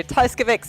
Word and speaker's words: Tajcevic: Yes, unfortunately neither of us did Polish when we were at school, so Tajcevic is the pronunciation we've gone with.